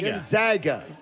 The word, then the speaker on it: Gonzaga: Gonzaga.